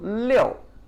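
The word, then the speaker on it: 六: Surf's Up all right so Leo Leo Leo leo it's falling tone right so when you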